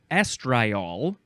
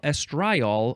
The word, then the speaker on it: estriol: next word is estri no the emphasis is at the beginning estriol or you can emphasize the second syllable estriol or estriol um this is a